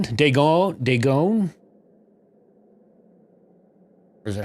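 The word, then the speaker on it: Dagon: their head they gone okay that's how kadithi pronounced it too so i'm gonna i'm gonna say that's unanimous day gone all right well thank you for the so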